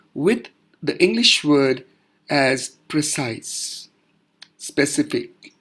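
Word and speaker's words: précis: the English word as precise specifically it's pronunciation is precis in simple terms pra Y s ee this is just for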